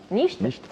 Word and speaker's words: Nichte: Nicht, pardon, juste, ah oui. j'aimerais bien juste qu'on prononce bien mon... Nicht. Nicht.